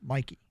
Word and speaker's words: Mike: everybody learned there's a Mikey Sanders doll is m-i-k-e is how it's spelled and that is pronounced Mikey but it's a long e H apparently does he